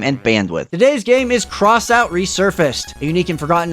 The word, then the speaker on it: X-Out: from 1989 and yes it's actually pronounced cross out not xout which caused me to